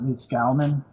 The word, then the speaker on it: Leedskalnin: Yeah, I've heard it pronounced Leedskalnin, but then it seems like more people pronounce it Leedskalnin.